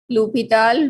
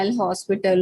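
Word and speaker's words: L'Hôpital: Then you will use लूपिताल rules, जिसको अक्सर students बच्चे ये भी पढ़ते हैं एल हॉस्पिटल रूल, जो कि इसकी नॉन रॉन्ग प्रोनाउंसिएशन है, ठीक है।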